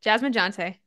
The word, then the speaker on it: Jasmine Jonte: life and your business and today we have Jasmine jonty I did not ask you how do you pronounce it that's it Jasmine jante you got it ah I did good I'm